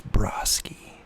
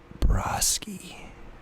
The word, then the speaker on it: Brosky: broski he pronounced his name my name with an O sound the correct pronunciation is Brosky like the O and odd it's pronounced Brosky I replied yes well